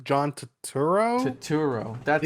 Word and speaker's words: Turturro: John Turturro.